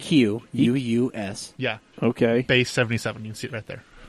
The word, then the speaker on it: Equus: Equus? Equus, yeah. EQ, Oh, so it's like the UUS. Eagle that makes that new What? Jaguar. Right? EQ UUS.